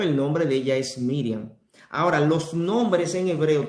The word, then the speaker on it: Miriam: Porque si Miriam, que es un nombre en hebreo, Miriam en hebreo se pronuncia Miriam, quizás un cierto acento que no lo tenemos nosotros, pero Miriam en inglés, Miriam, en español Miriam.